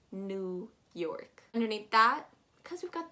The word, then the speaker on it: New York: new york is that that e w is very misleading you're going to pronounce it more as an n u new york new york